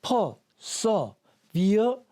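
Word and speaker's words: perseverance: 그 강세들이 읽어주면 됩니다 그래서 요거는 강세가 여기에 있고요 그래서 미역 그런데 강세가 없는 모험은 다 어라고 발음한다 그러죠 그래서 퍼 써비어런스 비어런스 인내란 뜻입니다 인내라는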